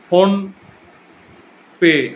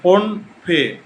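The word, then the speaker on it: Phnom Penh: দেখো, কম্বোডিয়ার রাজধানী হলো ফোন পে বা ফোন ফে। এই উচ্চারণগুলো বাংলায় করছি, ফোন পে ধরে রাখতে পারো।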